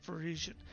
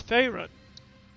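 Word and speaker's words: Ferasan: since we did afraid i've been mispronouncing it from last time i've been saying parisian it's not for asian it's pharyn but the klingon equivalent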